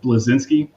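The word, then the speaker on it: Bleszinski: I'm always say his last name wrong, but it's Cliff Blazinski.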